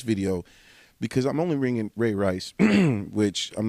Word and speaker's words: Ray Rice: Diddy, the Ray Rice video, because I'm only ringing Ray Rice, which I'm not sure if I'm saying his name right, the running back for the Baltimore Ravens.